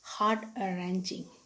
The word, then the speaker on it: heart-wrenching: Then the next word is heart-wrenching. W is silent there, children. Heart-wrenching.